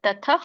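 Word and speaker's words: ತತಃ: ಭಾಷತ ಇದರ ಒಂದು ಉಚ್ಚಾರಣೆ ತತ ಆದಮೇಲೆ ವಿಸರ್ಗ ಇದೆ ತಥ ಅಲ್ಪವಾಗಿ ಹ ಉಚ್ಚಾರಣೆ ಮಾಡಬೇಕು ತಥ ಹ ಕೇಳಿಸಬೇಕು ಬಟ್ ಪೂರ್ಣ ಅಲ್ಲ ತಥಸ ವಿಸ್ಮಯವಿಷ್ಟೋ ಶಕೆಟು ದೊಡ್ಡ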